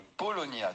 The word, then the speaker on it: Paulownia: C'est clair, le Polonia, donc ça s'écrit Paulownia, un arbre, une essence à découvrir, et donc c'est ce que vous utilisez pour vos collaborations avec les agriculteurs.